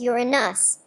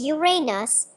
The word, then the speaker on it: Uranus: The pronunciation of the name Uranus preferred among astronomers is Journes Uranus, with stress on the first syllable as in Latin Ranus, in contrast to Drens Uranus, with stress on the second syllable and a long A, though both are considered acceptable.